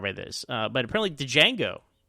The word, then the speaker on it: Django: this but apparently did Django or Django the D is silent the 1966 film that